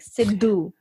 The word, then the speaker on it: Sidhu: It's like Sidhu, like a duh.